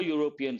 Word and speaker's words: European: But how do you pronounce this? U. Ya sound. A consonantal sound. Based on that, it is not an European city. We have to say a European city.